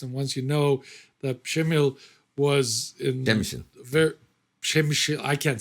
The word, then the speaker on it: Przemyśl: Trust me, it took me a while to get it pronounced right. Eventually, the Polish people started saying, "You got it, Przemyśl."